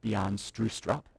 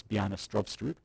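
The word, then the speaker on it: Stroustrup: C++ um B Str which is the correct pronunciation of the guy who invented the language it's not Bean strup as you might think it's B strob um he decided that namespaces would be a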